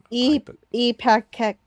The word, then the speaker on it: Ipecac: Epakek I can't Ipecac.